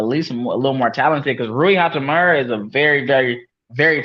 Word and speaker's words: Hachimura: Hach, Rui Hachimura.